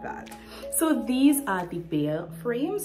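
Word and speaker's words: Baeyer: So these are the Bayer frames. It's spelled B-A-E-Y-E-R, and I know for a fact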